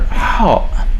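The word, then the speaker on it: حاء: letter is the letter how this is also one of the tricky letters to pronounce because it does not exist in english and most other languages in the world it is similar to the sound edge but with a different kind of pronunciation if you have some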